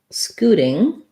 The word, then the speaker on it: scooting: So there's our oo vowel again. And first syllable stress. Because the letter T is between the oo and the I sounds in this word, it's going to be a flap. So it's going to sound a little more like a D, scooting.